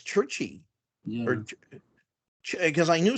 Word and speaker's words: Czuchry: His name is Matt Chizachary. I just like hearing him say that. How do you spell that, Jewel? It's CZUCHRY. Yeah, CZUCH. RY. I think it's UCH. I think it's Churchy.